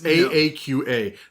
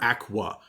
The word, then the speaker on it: Aaqa: It's Aaqa. The only thing I know is that there's no wa sound. It's not aqua because there's no u in it.